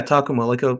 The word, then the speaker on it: Takuma: Yeah, Takuma, like stress on the first syllable.